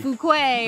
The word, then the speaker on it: Fuquay: fukui or uh Fuquay Fuquay or something yeah it's a Fuquay like f-e-w but have you ever